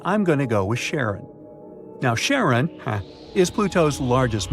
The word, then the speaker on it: Charon: Nix, Kerberos, Hydra, and the most mysterious one, Chiron, also pronounced Charon. So you can pronounce it however you like. I'm going to go with Charon.